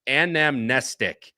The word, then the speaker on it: Anamnestic: in the NBS stable I know how to say this horse's name Anam oh my gosh anamnestic is how you say the horse's name uh again Kelsey Danner